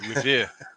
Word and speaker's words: Revere: Yeah, Revere. I have to pronounce it correctly.